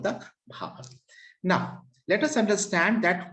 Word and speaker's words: Bhabhar: It is pronounced Bhabar and sometimes Bhabar also.